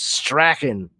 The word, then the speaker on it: Strachan: My mom, their name is Strachan, and it's ch right in the middle with an an, Strachan. But there's a town in Scotland called Strahan, and it's spelled the same fucking way.